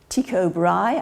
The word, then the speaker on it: Tycho Brahe: very bright very impressive and the well-known astronomer Tycho Brahe I believe is the way you pronounce that he he compared his observations and